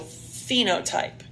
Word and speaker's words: phenotype: the same capital B phenotype put a little F over this pH because it's pronounced as if it has a letter F so phenotype it asks for the